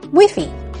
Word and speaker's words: Wi-Fi: Wi-Fi, Wiffy.